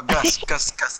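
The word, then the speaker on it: гусь: No, Gus.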